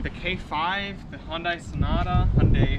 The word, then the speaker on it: Hyundai: k5 the hyundai sonata hyundai i've been trying to say hyundai now because that's how it's technically pronounced we have the elantra